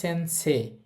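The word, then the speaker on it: 先生: তো যাই হোক এই শব্দটার উচ্চারণ হবে সেন্স। ইচ্চারণ হবে না। আর ওই এ ধনিটা টেনে বলতে হবে সেন্সে।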